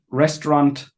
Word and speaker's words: restaurant: Restaurant. Sometimes you pronounce the T at the end of restaurant. Sometimes you do not.